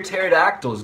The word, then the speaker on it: pterodactyl: why can't you hear pterodactyls go to the bathroom because the p is silent what did the pirate